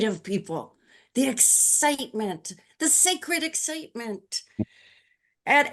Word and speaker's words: SACRD: And he says, and we pronounce it sacred, sacred.